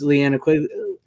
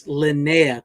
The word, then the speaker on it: Linnea: uh like I said it's Leanna lynnea quickly I keep saying her name wrong so I always say Leanna it's Linnea Quigley so no wonder she